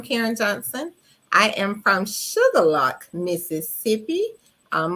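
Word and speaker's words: Shuqualak: Johnson I am from sugarlock Mississippi um most people would think that's spelled sugar and lock but no it's not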